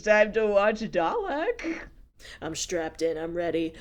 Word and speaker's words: Dalek: Please remind me it's pronounced Dalek, right? Dalek.